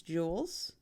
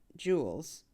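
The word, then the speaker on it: joule: that's messy um in the metric system it's Jewels yeah you should know how to say it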